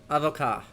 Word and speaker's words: avocat: Oh yeah, that's not one of the letters we pronounce. Fine. Avocat.